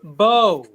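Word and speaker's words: Mbow: I feel like every They got Niner's Membo? praying for Bo right Oh, now. they're not Membo? No, No, A lot of it's people. No, it's Bo. The M is silent.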